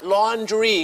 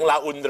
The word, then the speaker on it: laundry: ออก เสียง ว่า ฮะ ก็ ออก เสียง ว่า laundry ก็ คือ นี่ แหละ ฮะ บาง คน นะ ครับ อย่าง น้อย เจ๊ ออก เสียง ลี่ ยัง สละ ยัง ถูก บาง คน ออก เสียง ลา อุน ยัง เคย เจอ มา แล้ว เลย ฮะ ุ ใคร